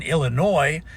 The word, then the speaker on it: Illinois: Never pronounce the s in Illinois.